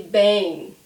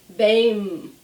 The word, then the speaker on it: bem: So the trick is when we have the M at the end of a word, we do not close our lips. So I don't say bem, never.